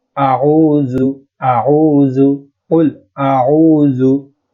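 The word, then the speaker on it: قُلْ: এখানে বানান সবাই করে কফ লাম পেশ কুল, কিন্তু উচ্চারণের সময় মারাত্মক একটা ভুল করে, সেটা হলো বলে কুল, বড় কাফ দিয়ে বলে, কাফ যেটা রয়েছে সেই কাফ দিয়ে বলে কুল, কিন্তু এখানে উচ্চারণটা হবে উল উল, উল মোটা করে উচ্চারণ করতে হবে উল।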